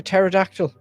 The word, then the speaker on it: pterodactyl: Oh, a pterodactyl. And the P is silent and non-existent.